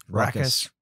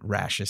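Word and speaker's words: raucous: can hear rashes laughter I don't know how to pronounce that rockus I'm sure rockus yeah you hear I've always read it rashes so it's probably not right that's rash yeah that's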